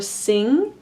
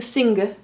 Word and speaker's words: sing: So this would be seen in the word song or sing. Notice I'm not pronouncing them separately. I'm not pronouncing ng. I'm not saying sing. I'm saying sing.